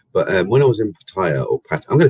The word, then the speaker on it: Pattaya: going to call it Pattaya. Sorry, everyone said I said it wrong. It's Pattaya. I asked a local, and they said it's Pattaya. It's not Pattaya. It's Pattaya, but said slightly different.